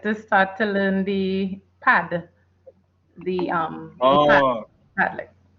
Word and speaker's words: Padlet: I'm very excited to start to learn the Padlet.